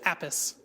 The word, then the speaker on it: Apis: Apis. Like Apis. Quick. That's much better. Apis. Could you just spell it?